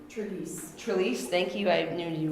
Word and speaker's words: Trelease: I don't know how to pronounce his name. Trelease, thank you, I knew you would.